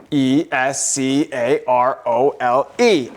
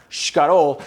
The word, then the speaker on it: escarole: I look and it's spelled, e s c a r o l e escarole, not shcarole.